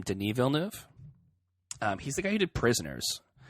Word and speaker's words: Denis Villeneuve: think it I think you say his name denis villeneuve he's the guy needed prisoners and I like